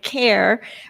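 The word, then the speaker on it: Khare: of ls and eyes and care with a silent h on it so it's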